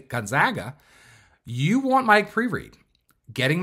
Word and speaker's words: Gonzaga: be your likely emissions outcome at Gonzaga University Gonzaga say it correctly don't get it twisted if